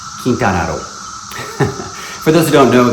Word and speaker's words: Quintana Roo: Or in Spanish it's pronounced Quintana Roo.